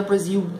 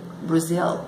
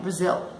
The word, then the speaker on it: Brazil: É com L, então não é Brasil. Brazil, ok? Brazil.